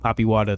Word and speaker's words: Papiwata: Poppy Wada 33, which is spelled PAPIWATA 33.